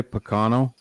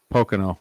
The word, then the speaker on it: Pocono: up to this point did you say picano I think I know Pocono Pocono I did Poco